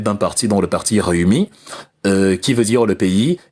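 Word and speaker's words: Rewmi: À côté, il y avait aussi un dernier parti important, le parti Réumi. Réumi de Idrissa Seck. Réumi signifie le pays. Ça s'écrit, c'est aussi en Wolof, ça s'écrit R-E-W-M-I.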